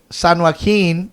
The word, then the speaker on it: San Joaquin: La Voz de San Joaquin.